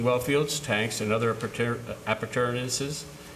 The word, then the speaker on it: appurtenances: Whereas the town board has determined that it is appropriate to consider establishing well fields, tanks, and other appurtenances.